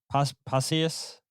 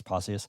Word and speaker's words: Pacius: Uh injured his shoulder last night in a challenge with uh who was it with uh Pacius. I'm saying his name wrong. Posas. No, it is Posius.